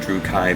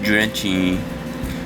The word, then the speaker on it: Drutchy: like, I don't care, I pronounce it Drew Kai, and most of the people I know on YouTube do the same, so stop talking, nerdy person.